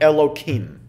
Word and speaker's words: Elohim: So when you're reading the Torah, when you're praying, you would be able to pronounce that name as it is written. Otherwise, what we usually do is alter it slightly, and we might say something like Elohim.